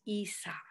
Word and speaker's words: Aesop: esa he with the a a-e-s-o-p but it's pronounced esop fables so this song i wrote is going